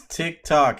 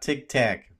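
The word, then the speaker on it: TikTok: you know sticky ticks I know it's tick tock it's not Tic Tac Peter I know I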